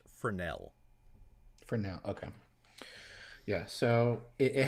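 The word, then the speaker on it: Fresnel: just for informational purposes it's actually pronounced fernel Fel okay yeah so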